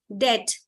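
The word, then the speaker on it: debt: Okay, det, B is silent, waste, E is silent, cassette, double T is giving T, and time, TH, H is silent.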